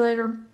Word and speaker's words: later: later see you later the T and later is pronounced as a lingual flap T which sounds a lot like a really quick D sound rather than a true aspirated or fully released T this happens when a t is surrounded by vowels or RS when it's unstressed similar to words like water and party let's listen I'll see